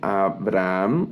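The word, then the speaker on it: אַבְרָהָם: otra palabra Abraham observen Abraham aquí aparece un cheva también debajo de la vet en este caso es silente Es decir no suena y solo sirve para dividir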